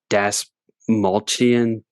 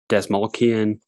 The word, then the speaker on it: Desmalchian: I always mispronounce his name. It's Desmalchian. Desmalchian.